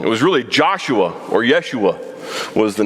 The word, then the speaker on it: Yeshua: a minute we think jesus the way we pronounce it we're totally wrong totally wrong it was really joshua or yeshua was the name there pretty cool all right